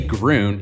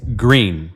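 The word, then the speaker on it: Gruene: And don't say groon, it's green, like the color.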